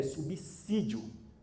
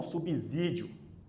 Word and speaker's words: subsídio: Observação, a pronúncia correta é subsídio e não subsídio, assim como subsidiário e não subsidiário. Em regra, o S só tem som de Z entre duas vogais, com algumas exceções, como quando o prefixo é transitar.